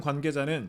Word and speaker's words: 관계자: 군 관계자는 자, 관계자 이중모음이죠. 입모양이 한번 바뀌어야 됩니다.